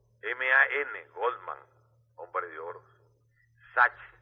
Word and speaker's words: Sachs: Sachs, S-A-C-H-S. Pronuncian la CH como K.